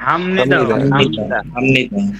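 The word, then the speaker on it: 합니다: আমি বলেছি যে বিয়োপের পরে যদি মিয়ম আসে অথবা বিয়োপের পরে যদি নিয়ন আসে, বিয়োপের উচ্চারণ নিয়ন ম আসে।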